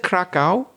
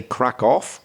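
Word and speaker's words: Kraków: because I know that you said Krakow, yeah, and some people say Krakow. I've heard both pronunciations in English.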